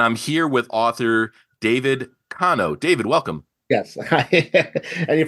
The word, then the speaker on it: Konow: And I'm here with author David Kano. David, welcome. Yes. And you pronounce it correctly.